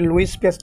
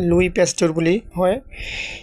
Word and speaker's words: Louis Pasteur: পেস্ট গুলি উচ্চারণ করি এটা লুইস পেস্ট না হয় লুই পেস্ট গুলি হয় এই চ্যাপ্টার অন্তর্গত একটিভিটি